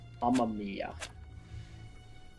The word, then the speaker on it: Amamiya: So, it is A-M-A, and then M-I-Y-A. Amamiya. A, not E. There you go. Mamma Mia.